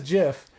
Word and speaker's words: GIF: gif i say gif i say gif sorry oh god kathy says jeff kathy says jiff because i'm like it's not spelled like jitter jeffy is peanut butter thank you no but that was the joke it was originally called jiff because it was choosy programmers use gifs okay cheesy programmers use